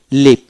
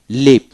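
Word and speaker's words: leave: নাই এল ই পি লিভ লিভ এলইপি লিভ মানে এ উচ্চারণ হবে না এমইডি মেড এমডি মেড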